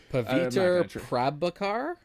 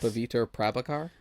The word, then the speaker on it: Paviter Prabhakar: Paviter Prabhakar, I think. Yes. Paviter Prabhakar, maybe.